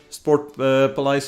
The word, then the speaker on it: Sportpaleis: None of the casters were able to pronounce it correctly, because it's a Dutch or a Flemish, like Belgian Dutch name. Sportpaleis, it means Sport Palace, Sports Palace of course.